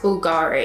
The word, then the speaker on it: Bulgari: don't they so it's like Glory but it's pronounced Bulgari what language is it they're Italian like youth